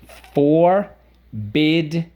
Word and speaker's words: forbid: at the end 1 and the accent is on the second syllable forbid the two one one